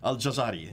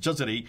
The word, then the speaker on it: al-Jazari: Shadi Nasser, well, there's a fourth canon, and here's the fourth canon, Al-Jazari, or Jazari, however you want to pronounce it. Al-Jazari, yeah. And Jazari, he then introduces three more readings of the readers.